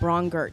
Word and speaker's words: Braunger: Just like Stronger. That's how you say it.